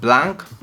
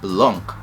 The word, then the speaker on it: Blanc: I initially called it Blanc, being African, but my boyfriend corrected me saying it's French, that it should be pronounced Blanc.